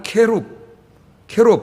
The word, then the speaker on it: 케룹: 원래는 히브리 말로 읽으면 케룹, 복수로 하면 케루빔 이렇게 돼요. 우리는 그냥 발음대로 한글 발음대로 그룹이 아닙니다.